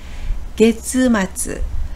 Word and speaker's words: 月末: 월말을 게츠마츠. 결말은 타금이 없고요. 월말은 타금이 있어서 게츠마츠라고 읽습니다.